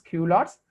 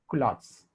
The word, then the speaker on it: culottes: is called as if somebody me prongs q lots actual pronunciation is culottes culottes is also called